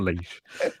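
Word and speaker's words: Laois: is Ronan but it's from County lace l-a-lee why is that why is that leech nothing like a leash no h from County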